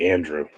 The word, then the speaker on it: Andre: I saying that right it looks like Andrew well I mean not Andrew Andre um yeah Andre Leo